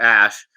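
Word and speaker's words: Æ: Like straight up belly laughing as he explains how A is pronounced Ash.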